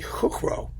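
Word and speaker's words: Chuchro: a guy joseph cuckrow chutro i mean chutro's easier to say i already pronounced it in czech i would be hook row probably um with neumann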